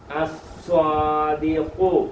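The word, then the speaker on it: الصَّادِقُ: ഈ ലാമിന് ഉച്ചാരണമില്ല. ലാമിനെ ലാലിലു എന്ന് പറയത്തില്ല. അലിഫ് അ. ലാമിനെ ലാലിലൂല് എന്നൊന്നും പറയത്തില്ല. ഉച്ചാരണമില്ല, മൊഴിയത്തില്ല.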